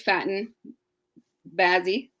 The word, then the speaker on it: Faten Bazzi: So everybody, this is Faten Bazzi.